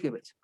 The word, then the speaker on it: Goebbels: ahorita te lo busco, creo que se pronuncia Goebbels, pero es Goebbels, Ok, ok. pero casi estoy seguro que es Goebbels.